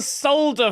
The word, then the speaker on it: solder: Wait, you pronounce the L and solder? Yeah, there's an L in solder. So, I pronounced the L.